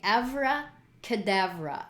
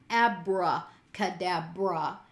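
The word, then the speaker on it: avra kedavra: for this week being evra kedavra that is actually the way it's pronounced in aramaic my accent may be off but it's not abracadabra it's been shifted to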